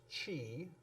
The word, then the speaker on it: qi: QI, which most people will pronounce chi.